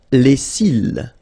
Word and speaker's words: cils: Les cils. Les cils. Final S not pronounced.